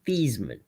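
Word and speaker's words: Theismann: Thyman's last name was actually Thesman. Roger Valdisari, who was the SID at the time at Notre Dame, told him, "We're changing your name to the pronunciation of your name to Thyman so I can put you on the cover of our, you know, press guide as Thyman for the Heisman."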